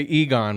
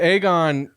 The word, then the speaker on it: Aegon: fact aegan like aegon I always want to say Egon when I say his name but aegon we got we got